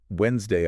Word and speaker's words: Wednesday: Wednesday always seems like the perfect example here that it looks like it should be loud and proud. Exactly. Wednesday comes from Woden's day. You know the Norse god Woden, right? Wogen. And originally that mood was definitely heard.